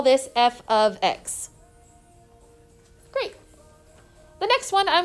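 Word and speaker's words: f(x): It is pronounced, I want you to write this down, f of x. Don't say f times x, don't say f parentheses x, it's f of x.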